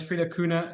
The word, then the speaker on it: Frieder Kuhne: My name is Frida Kuhne. It's a little bit of a difficult name to pronounce.